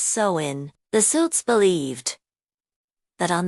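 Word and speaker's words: Samhain: The night before the new year on October 31st, they celebrated a festival called Sin, pronounced sin.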